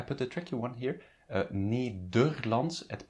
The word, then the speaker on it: Nederlands: Nederlands, it's pronounced as an U, the second E.